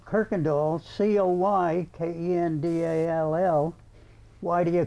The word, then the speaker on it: Coykendall: And so this one here, after about the second generation, changed the original from K-I-R-K-E-N-D-A-L-L to C-O-Y, but they didn't change the pronunciation. So we still were supposed to say Coykendall.